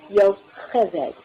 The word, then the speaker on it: Yocheved: That CH is pronounced the same as in Bach, Yocheved.